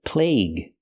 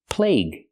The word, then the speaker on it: plague: article the the plague use the long a sound like day and say plague plague and the UE is silent the plague or you